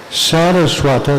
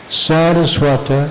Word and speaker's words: Saraswata: Saraswata, that's with a long A in the beginning, Saraswata is his patronymic.